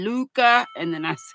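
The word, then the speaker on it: Lykke: I was telling y'all how to say l y k k e Luca and then I said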